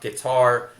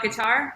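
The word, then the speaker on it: Qatar: right leah harding doha guitar all right yeah that's the kentucky coming out in me just as we talked about before a lot of people say cutter that's wrong okay okay i wanted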